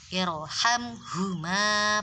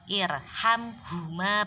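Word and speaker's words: ارحمهما: tersebut adalah hamzah wasol, maka bacanya harus dibaca tebal karena ada kaidah yaitu ro sukun didahului hamzah wasol maka harus dibaca tebal. Jadi bacanya irhamhuma, bukan irhamhuma, bukan gitu.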